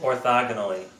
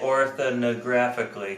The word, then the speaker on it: orthogonally: Orthogonally. Orthogonally. And I used to say it orthonographically because Yes, I could you never did.